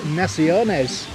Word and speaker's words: naciones: Lafayette Noles and nepheonis to be honest it's four syllables naciones yeah so today we've